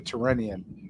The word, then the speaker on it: Tyrrhenian: even go Naples to Tyrrhenian. By the way, does anyone notice Karthik keeps pronouncing Tyrrhenian? Tyrrhenian. It's not that. Okay, it's not a Slavic province.